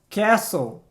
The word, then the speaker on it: castle: O correto, então, castle. Castle. Aliás, é o mesmo som da palavra whistle.